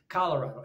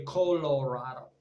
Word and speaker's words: Colorado: people in color Colorado I got to say it like an English person instead of a Spanish person Colorado in in in Spanish you would say Colorado Colorado okay but I think